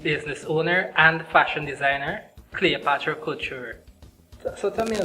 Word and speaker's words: Clyopatra: But it's Cleopatra, but the only difference is that my regular name is spelled as C-L-E. But for my fashion line, you can swap an E for a Y, so I swapped it. And that's why it's Cleopatra.